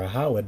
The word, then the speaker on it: Ehud: and he and Ehud or Aawad, that's his name, Aawed when you when you pronounce it in the Paleo, uh came unto him,